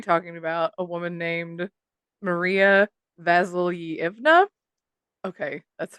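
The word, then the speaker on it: Mariya: so we're calling her Maria got it yeah yeah but but it's spelled m-a-r-i-y-a so I really I had to make sure it was Maria but yeah basically Maria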